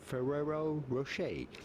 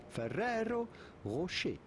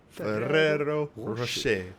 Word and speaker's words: Ferrero Rocher: So in English or American, you would normally pronounce it Ferrero Rocher. Ferrero Rocher. But if you wanted to combine the Italian with French to say these with the pronunciation here we of go. the respective country of origin, you would have to say Ferrero Rocher.